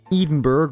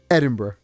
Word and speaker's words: Edinburgh: It's not It's not Edenburgg or or Edinburg. Edinburgh. Yeah.